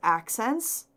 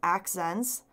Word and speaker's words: Akzentz: this company this is accents so it looks like this right here a kze and T Z and that's pronounced accents and they're from Vancouver